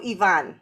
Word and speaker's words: Ivan: i'm talking to you from portugal lisbon so yvonne right yes i get because you know my